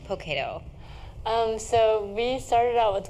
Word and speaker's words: Poketo: And my grandmother raised me, actually, so I'm really close to my grandmother, and she would always say Poketo instead of pocket.